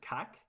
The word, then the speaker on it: cac: It's in Old Irish. There's an old. It's kind of like an old word. You wouldn't really get it used now, but it's pronounced cack.